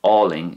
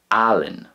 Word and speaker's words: álainn: But in Ulster, it's not Ling, it's Allen, Allen. So again, you can hear the differences there in the way the A fada is pronounced.